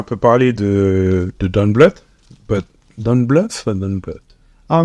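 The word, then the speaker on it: Don Bluth: je suis allé écouter comment est-ce que les Américains le prononcaient c'est Don Blu don Blu OK et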